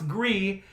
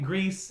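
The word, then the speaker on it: Gris: that game agree the gr is but it's pronounced agree I hate that everybody's calling it grease and Grizz because the developers have said well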